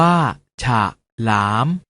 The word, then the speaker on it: ฉลาม: เสียง ว่า ถ้า ถนน ฉลาม ออก เสียง ว่า ฉาก หลาม ขนุน ออก เสียง ว่า